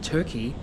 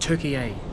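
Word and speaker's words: Türkiye: I've been pronouncing it Turkey, but apparently it's called Turkey A.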